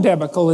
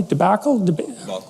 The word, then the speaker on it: debacle: back and then there's the student loan debical in the united states if that's pronounced properly debacle debacle okay obviously i've read that word more than said it and so you know